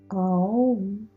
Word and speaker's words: Aum: Aum is the Sanskrit pronunciation of Om and is the universal sound or hymn of the universe.